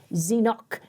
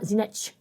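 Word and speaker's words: Zenock: But we know now how to say it phonetically, because that's where it was originally said. Zenoch, not Zenech for English. That's the Hebraism difference.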